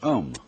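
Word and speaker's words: aum: course the sound um that sound is used because if you spell it out a u m it runs from the back of your throat to your lips and therefore it contains the whole range of the voice and for that reason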